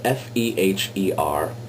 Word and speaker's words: Feher: My last name is spelled F-E-H-E-R, but it's pronounced Feher. It's a European name. And what word rhymes with Feher? None other than gayer.